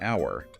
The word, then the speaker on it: hour: But we also have an honest person and an hour because the initial h is silent, meaning the word begins with a vowel sound.